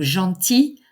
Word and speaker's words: gentil: beau belle i l on ne prononce pas le l au masculin en i l l e qui est le son i donc gentil gentille o u X